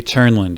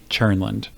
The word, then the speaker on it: Tjernlund: It's Churnland. It's a Swedish name and it's spelled very strangely. Okay. I won't I won't try to pronounce it. Okay. But my name is Churnland.